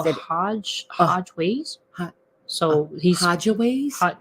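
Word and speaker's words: Hajj Ways: Ho- So he's Hodgeways, So he spelled it HAJ J space WAYS. So Hodgeways, Hodgeways.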